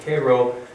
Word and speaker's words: Cairo: river and so from cairo that's how the people in illinois pronounce it cairo the southern tip of